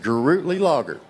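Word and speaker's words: Gruetli-Laager: It is Grootly Lager. Grootly Lager. Sounds like a beer, don't it?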